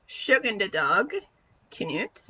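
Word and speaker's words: tjugondag Knut: we celebrated something called Tjuegondag Knut, or as we pronounced it, Tjuegondag Knut, which is the 20th day of King or Saint Knut.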